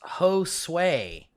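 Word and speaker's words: Josué: podcast is going funny my name is josue pronounced ho sway josep josue josue josue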